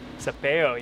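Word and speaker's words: Sapello: Sapeo, yeah.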